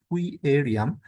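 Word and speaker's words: Querium: অভিজ্ঞতা সরবরাহ করে থাকে কুইরিয়াম এর ইংরেজি উচ্চারণ হচ্ছে কুইরিয়াম এর বাংলা উচ্চারণ হবে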